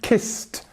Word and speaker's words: kissed: Now, if you're going to say a word like kissed, you will hear t at the end, kissed.